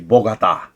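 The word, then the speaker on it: Bogotá: Let me pronounce it correctly. Bogota.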